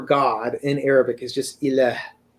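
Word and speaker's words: إله: So the word for God in Arabic is just ilah, right?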